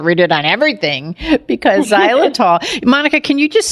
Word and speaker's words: xylitol: it on everything because zyol Monica can you just spell it out so people would know because it kind of it spells out a little different than it sounds absolutely it's x y